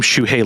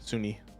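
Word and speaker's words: Sunhee: You mean Suni Legend? Is that how you say it? I swear there's an H in there. Yeah, it's SUNHI, Suni.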